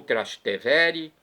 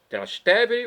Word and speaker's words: Trastevere: De acordo com o site da comunidade católica Canção Nova, Romano de Trastevere, ou Trastevere, eu já vi as duas pronúncias, Trastevere ou Trastevere.